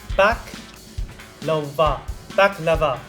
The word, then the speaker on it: baklava: helped us out with the best one we used was bach lover yeah but with the accent on the first syllable yeah so back lover